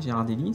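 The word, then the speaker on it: Ghirardelli: Je sais pas comment on prononce. Ouais. Gérardellie, c'est comme ça.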